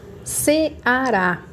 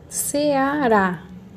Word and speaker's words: Ceará: Ceará. Ceará. Qual é a sílaba mais forte? Orá. Se é orá, ela é uma oxítona. Termina em A.